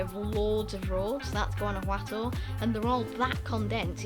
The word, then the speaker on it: Guanajuato: So Guanajuato is the main city. I think I'm pronouncing that right in the Spanish pronunciation.